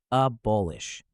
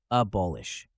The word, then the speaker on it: abolish: the pronunciation listen carefully abolish notice the stress on the second syllable ball let's practice together abolish one more time ballish